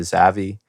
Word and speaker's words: Zavi: Rock Beats, and then he changed it to Zavi, which is just like I guess the first two syllables of Xavier.